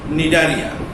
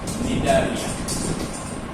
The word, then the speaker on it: Cnidaria: You see, the Coelotrata, otherwise called as Cnidaria. Cnidaria. It is otherwise named as Cnidaria. C is silent.